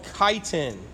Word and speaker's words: chitin: It's the polysaccharide that forms the cell wall of fungi and the exoskeleton of arthropods, and that was called chitin. Chitin. Chi. C-H-I is pronounced chi.